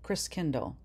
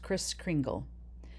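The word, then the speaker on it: Christkindl: the Christ child which in old German was pronounced Chris Kindle later pronounced Chris Kringle he taught Christ was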